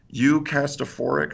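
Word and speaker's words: eucatastrophe: correct me it's like you cast a for ik or something it's like catastrophic but with like you know the beginning of eucharistic they're like you you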